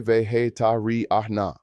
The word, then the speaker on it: vegetariana: If you are female, say soy vegetariana, pronounced soy vegetariana.